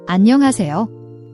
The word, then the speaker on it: 안녕하세요: The H in is often softened or almost silent, especially in fast speech. Don't overaspirate it, it's a gentle breath, not a hard H sound like in hat.